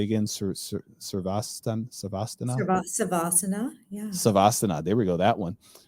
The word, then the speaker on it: Savasana: Savasana.